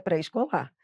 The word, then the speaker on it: pré-escolar: Ah, Adriana, eu tô com vontade de falar pré-escolar. Não, não pode, porque a pronúncia correta é pré-escolar.